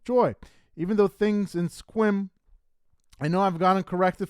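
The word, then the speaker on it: Sequim: even though things in squim I know I've gotten corrected for saying that wrong I used to say it squim but I believe you don't pronounce the E it's just squim uh weren't always peachy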